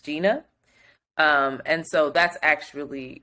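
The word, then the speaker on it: Zhina: Gina um it's also it's spelled z-h-i-n-a but pronounced Gina um and so that's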